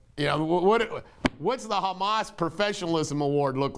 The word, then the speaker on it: Hamas: 2022 and 2024 uh hummus or excuse me hamas i always pronounce it get grief over it hamas gave al-jazeera a